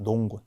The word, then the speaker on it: 농군: 농부들을 뜻하는데 군사군를 써서 농군이라고 합니다. 농군. 발음까지 제가 써 드렸어요. 꾼이라고 발음하지 말라는 거예요.